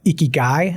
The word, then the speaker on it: ikigai: They also have this concept of ikigai.